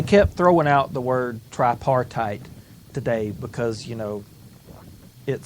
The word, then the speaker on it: tripartite: They kept throwing out the word tripartite today because, it sounds cool. Yeah. That means 3-party for those of us who generally conduct our lives in English. Notice it rhymes with apartheid.